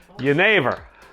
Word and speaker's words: jenever: How do you pronounce it in Dutch? Your neighbor. Jenever. Young Jenever. Young Jenever. Young Jenever. No, young Jenever.